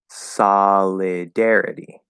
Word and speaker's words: solidarity: make it a connection, it doesn't sound like sol anymore. It sounds like sa, solidarity.